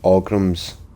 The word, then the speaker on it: Ogrim: What this has taught me is that those words are pronounced Zivili, Orgrims, and even Scamps.